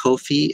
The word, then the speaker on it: Ko-fi: or there's actually a really cool website called Ko-fi.